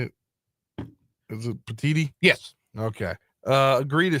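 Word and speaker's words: Petitti: Tony how do you say it is it petiti yes okay uh agreed to cfp seatings need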